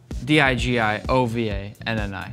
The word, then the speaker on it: DiGiovanni: dot D-I-G-I-O-V-A-N-N-I. If anybody didn't hear that, that's at dot. Yeah. G-I-O-V-A-N-N-I, and it's pronounced DiGiovanni.